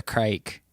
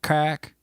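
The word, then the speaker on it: craic: And it's pronounced like crack.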